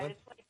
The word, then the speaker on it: Tatelin: What up, yeah, Tatelin? it's like Caitlin.